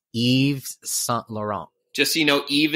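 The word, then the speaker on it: Yves Saint Laurent: didn't want to get it wrong but it's Eve's son Laurent just so you know Eve is spelled y v e yeah so Christian Dior mentored Eve Saint Laurent and salt Laurent became Christian's personal assistant which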